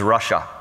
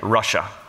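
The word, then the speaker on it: רשע: The word in Hebrew for a wicked man or an evil man is Russia. It is spelled differently. In English, it is spelled R-A-S-H-A, but phonetically, it sounds the same, Russia.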